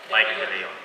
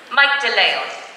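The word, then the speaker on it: Mike de Leon: Mike Delay on. So I did it right. Mike Delay on. Delay on. Delay on. Because it's in the last syllable.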